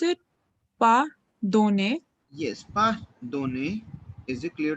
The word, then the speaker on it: pardonner: How do we pronounce it? Pardonner.